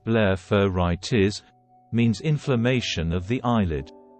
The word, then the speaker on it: blepharitis: what is blepharitis blepharitis pronounced blepharitis means inflammation of the eyelid the edges of